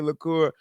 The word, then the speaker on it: LeCours: Amy LeCours, which is weird because she has an S on her last name, but you don't pronounce it.